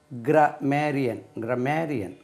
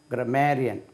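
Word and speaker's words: grammarian: கிராமர், இந்த கிராமர் கற்பிக்கக்கூடியவர்கள், கிராமர் எழுதக்கூடியவர்கள், அவர்களுக்கு கிராமேரியன். Stress வந்து ரெண்டாவது போயிடும். கிராமேரியன்.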